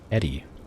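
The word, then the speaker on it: ED-E: Eddie, not Edie.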